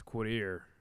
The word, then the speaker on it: Quaudir: It's spelled differently than you would say it, though, because it's Quadir, but it's spelled Quaudir.